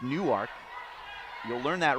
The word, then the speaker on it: Newark: Spelled like Newark, but pronounced Newark.